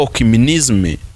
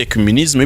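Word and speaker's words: écuménisme: Ni cya kintu cyitwa okimenisme cyangwa se ecumenisme bitewe na pronunciation ukoresha, wo kugira ngo ifate abanyamwuka n'abanyamubiri bahurize hagati.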